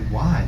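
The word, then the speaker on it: wye: in the railroading world as a Y, that is spelled W-Y-E.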